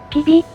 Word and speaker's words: Cybi: この聖人の名前は、本来、 CYBI と書き、キビ、と発音します。